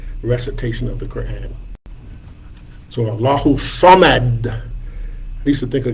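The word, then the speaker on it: الله الصمد: Allahu Samad is how we pronounce that. If you want to do a little tajweed, you can shake the D a little bit. Allahu Samad.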